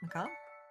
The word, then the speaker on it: macabre: Macabre? Macabre, yeah. Yeah. It's so funny looking at the word and being like... Mhm. But how was that pronounced like that? But anyway, the macabre is a Mhm. long-standing tradition in fairy tales, after all. French is just weird. Yeah, I was gonna say, how's it pronounced like that? French.